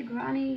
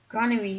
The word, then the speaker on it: granary: I'll probably have comments saying, you don't say granny, you say. Granary, it's a granary.